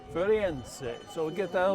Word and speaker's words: Firenze: Firenze. Firenze.